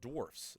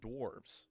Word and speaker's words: dwarfs: First is that it's pronounced dwarfs not dwarves.